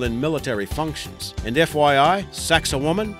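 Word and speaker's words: Sacsayhuamán: military functions and FYI sax of woman is the pronunciation we were given for this site number six lost pyramids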